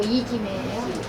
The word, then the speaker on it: 이지매: 일매 아니고 이지매예요.